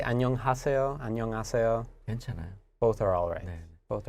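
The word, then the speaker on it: 안녕하세요: it right the pronunciation even though we have our H consonant the pronunciation almost sounds like annyeong a sail and yeah oh yeah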